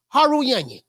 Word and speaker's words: Harutyunyan: the name of artem Haru Young yes his name rhymes with the onion this was supposed to